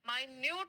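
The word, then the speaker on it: minute: seconds make न मिनट जब आप टाइम की बात करेंगे तब इसी शब्द को हम कहेंगे मिनट लेकिन क्या आप जानते हैं माइन्यूट का मतलब क्या होता है माइन्यूट का मतलब होता है बहुत छोटा ठीक है माइन का मतलब होता है बहुत छोटा टाइनी सो अगर आपका मीनिंग है बहुत छोटा तो आप उसे माइन्यूट कहेंगे ठीक है लेकिन अगर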